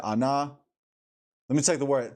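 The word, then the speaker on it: עָנָה: And now here's a pronunciation, by the way, too. Strong's H 6030. Anah. Anah. Anah. Ayin, nun, hey.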